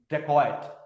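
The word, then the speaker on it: dacoit: सो foreigners इसको जो है वो डकैत को नहीं प्रोनाउंस कर पाए। They started calling it डेकोइट। डेकोइट। तो दे कॉल इट डेकोइट।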